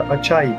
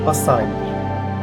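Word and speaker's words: açaí: Bu arada yazıldığı gibi genelde açai diye okunsa da aslında gerçek okunuşu Portekizce'deki gibi asai'dir.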